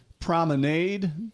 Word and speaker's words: promenade: And we're by the way, if you just tuned in, we're talking about the prominade. Prominade does not rhyme with lemonade.